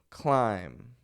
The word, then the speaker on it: climb: not going climbing mm I hear a lot of people say climb and climbing and I understand you're reading the be it's there it's silent climb the corporate ladder mountain climbing let's go mountain climbing no B sound just climb another one